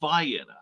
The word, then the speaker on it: Vienna: after an ultrabox song but anyway um they pronounce it vianna and they're proud of it i'm was pronouncing